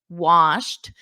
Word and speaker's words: washed: Well, you could say last weekend, two guys washed. So, notice that pronunciation because we have wash. That's the base verb to wash. But then in the ED, the past simple, it's a very soft T. Washed.